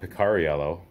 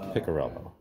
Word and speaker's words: Piccarello: It is not Picariello, because that would be how it's spelled, but it's Piccarello.